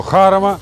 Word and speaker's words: Jarama: In Spain, at the Jarama track—or as the locals say, Harma.